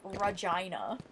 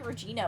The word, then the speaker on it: Regina: Anything that rhymes with vagina though is probably going to not be a great Okay, I'm right here. You'd think it would be Regina, but she pronounced it that way.